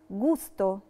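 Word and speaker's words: gusto: لاليترا جي لو جي وراها لاليترا أو بننطقها جو تبقى جي دورا. ومثال عليها كلمة جوستو، جوستو يعني طعم.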